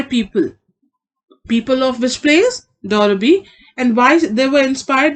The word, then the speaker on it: Derby: It is not Darby, it is Derby. This is how we pronounce this word.